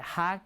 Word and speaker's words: 학: When you look at these words, okay, there is that part of the word that is pronounced hak, right?